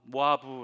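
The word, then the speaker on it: מואב: 되었다 라고 기록합니다 모압 모압 시브 리어 로 이모 앞 은 어떤 멋 발음이 어떻게 되냐면 조모 아부 모아 부 라고 하는데요 이 단어의 뜻을 살펴보면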